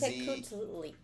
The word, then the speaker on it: Piltzintecuhtli: p i l t z Piltzintecuhtli.